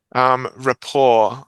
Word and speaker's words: rapport: Rapport, I would say. Rapport. No, you don't pronounce T This is one of these borrowings from because French. the T here is not pronounced, you see.